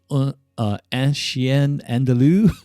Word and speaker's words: Un Chien Andalou: That was And again, I apologize about my horrible pronunciations today, but it's uh In English, it's an Andalusian Dog. In French, it was Un Chien Andalou.